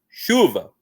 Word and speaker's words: chuva: Mas em geral, ó, vou chamar chuva lá fora. Chuva. Chuva. Aqui a gente tem força no chu.